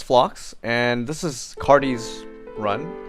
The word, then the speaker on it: Cardes: phlox and this is cardi's run i think it's pronounced cardis uh i only end